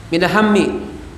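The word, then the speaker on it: مِنَ الْهَمِّ: Minal hammi di bawah tasdid, yaitu fontnya font Arab ini ya. Itu yang minal hammi ya. Meskipun itu di atas huruf mim, tetapi itu dibacanya mi karena di bawah tasdid.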